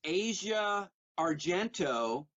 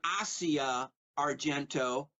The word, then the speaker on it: Asia Argento: And by the way, there's a Mothers of Darkness trilogy which stars Asia Argento, and she pronounces her name Asia Argento, but since she's a suspect in the murder of Anthony Bourdain, I'm going to call her Asia Argento.